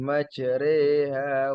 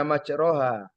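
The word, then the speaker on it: مجريها: ada empat kemudian imalah imalah itu bacanya miring ya dibaca fathah dimiringkan ke harakat kasroh. Jadi kalau baca bismillahi majriha wa mursaha. Jangan dibaca majraha itu fatkhah. Fatkah tapi fatkah berdiri dimiringkan imalah.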